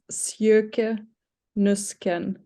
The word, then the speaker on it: Sjoeke Nüsken: Okay, I can pronounce it like really clearly and slowly. It sounds weird, but if I do it like that, but it's Sjoeke Nüsken.